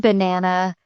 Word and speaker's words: banana: For example, in the word banana, the second syllable is stressed.